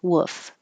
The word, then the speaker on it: wolf: you heard a wolf wolf wolf you should hear a little bit of l but not perfectly wolf just wolf wolf wolf woof howl